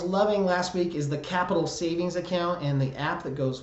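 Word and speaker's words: Qapital: last week is the Capitol savings account and the app that goes with that Capitol is spelled with a Q QAPI tal that is such a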